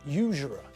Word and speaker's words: usurer: he exploited them now did you notice the word usurer that's the same type of word as university and uniform because we pronounce the first letter as you not ooh we use a consonant